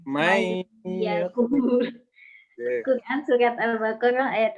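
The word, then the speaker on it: من يقول: Apabila waqaf pada lafaz man yakul, Quran surat salah bacanya. May yakul.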